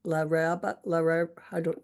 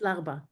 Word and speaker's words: Larba: drinking lemon squash, and is it La Raba? How do you say the Algerian town? La Raba? The Just Larba.